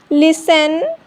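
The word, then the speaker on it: listen: Often, लिसन, castle, wrestle, सॉफन, Christmas. ई silent, ई कब silent होता है?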